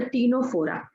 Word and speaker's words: Ctenophora: Student, before discussing the platyhelminths, I want to discuss about the Ctenophora, where the C is silent.